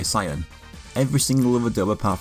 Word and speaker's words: Saiyan: English version of Saiyajin, as you can hear Vegeta sing in the song Saiyan Blood. I am the Prince of Saiyan, Saiyan Blood! The saying pronunciation is basically the equivalent of calling Ninja Gaiden Ninja Gaiden, except this one just never went away.